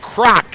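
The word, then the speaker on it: Kragt: small forward is Mike crock it's k-r-a-g-t but pronounced like Ray Kroc 6-3 senior from Grandville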